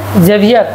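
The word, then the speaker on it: Xavier: এক্সটাকে এখানে জেভিয়ার উচ্চারণ, যে উচ্চারণ করে, যে যে, ঠিক আছে।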